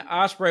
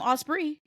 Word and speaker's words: Ospreay: call him ospre he he kept calling him like he kept saying it like like he was correcting the viewer like will opray opray so oh am I am I saying it wrong no it's ipray so you know Will's